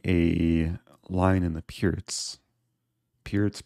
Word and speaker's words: Pirc: Pirc perk. A lot of Americans say perk, but I think the C is pronounced differently. With c5, I can take.